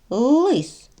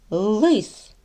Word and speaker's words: лис: чи однаково вони вимовляються давайте порівняємо лис як тут звучить л лис лис л л так л твердий позначимо звук однією рисочкою а в слові ліс як звучить л ль ль ліс спробуйте повторити ліс ль